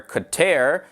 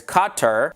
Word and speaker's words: Qatar: And some of the common ways of pronouncing it are Qatar, and then there's Qatar, Qatar, Qatar, and Qatar.